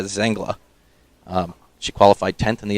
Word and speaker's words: Zangla: done by paula see amanda's zangala i apologize i've been mispronouncing amanda's name all of last week and in the introduction her name is amanda zangla she qualified 10th in